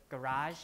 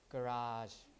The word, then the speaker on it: garage: first syllable right but american pronunciation is more like the french the original french pronunciation garage and garage like